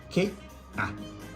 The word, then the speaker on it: Ka: So K, A. That is pronounced Ka, Ka.